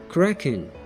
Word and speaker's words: cracking: Huruf G di kata ini biasanya menjadi huruf sunyi atau tidak disuarakan. Jadi pelafalannya terdengar seperti cracking.